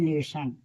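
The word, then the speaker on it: lesson: लेसन एन E double S ओ लेसन। देखिए ओ के बाद एन है तो ओ का उच्चारण अ है। यानी लेसन।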